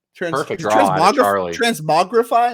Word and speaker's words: Transmogrify: Transmogrify? Am I saying this wrong? Whatever. It is in fact Transmogrify.